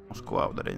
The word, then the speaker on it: Москва: Москва, ударение на второй слог.